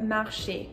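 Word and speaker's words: marchent: Il pluriel, you add ENT, but you're still going to have the same pronunciation.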